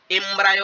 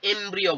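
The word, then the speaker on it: embryo: কাকে এমব্রিও বলা হয় এটাকে এমব্রায় উচ্চারণ করবে না একে উচ্চারণ করা শেখো একে এমব্রিও বলে ঠিক আছে আমাকেও কেউ শিখিয়েছিল আমিও তোমাদেরকে তাই বলছি এটাকে এমব্রিও বলায়।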